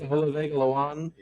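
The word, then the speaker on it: Olaivavega Ioane: I can't even pronounce his name. Ola. Oh yeah, the it's Olavega Lawan.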